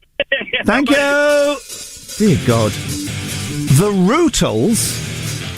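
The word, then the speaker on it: Rutles: Go and learn how to pronounce the Ruttles. Is that okay, mate? Thank you. Dear God. The Rootles, it's silly bands.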